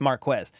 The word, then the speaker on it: Marquez: say their name right I said Marquez cuz he's like there's no K in my name it's Marquez but um yeah just I